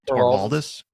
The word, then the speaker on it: Torvalds: Linus, am I pronouncing his last name right? Torvalds?